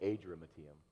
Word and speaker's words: Adramyttium: I say Adramyttium. That's right. I wish you had pronounced it.